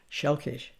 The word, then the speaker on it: selkies: I'm going to begin with the three constructs of selkies, which is actually pronounced shelkish.